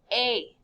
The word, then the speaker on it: es: Tu es. It's just pronounced A. Don't say the S.